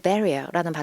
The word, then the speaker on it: barrier: A man is putting up a metal barrier라는 발음이었고 영국 및 호주 성우빈 분들은 성우 오빠들은 R 발음을 잘 안 해줘. 그래서 barrier이 아니고 barrier 이렇게 되죠.